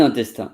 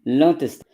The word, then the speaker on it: l'intestin: un intestin. It's masculine. L'intestin. And it's not intestin, but l'intestin, because it begins with a vowel.